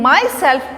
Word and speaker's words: myself: In myself we pronounce the word myself. We put the stress mark on the word self.